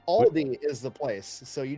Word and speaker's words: Aldi: Is it supposed to be Aldi's or No.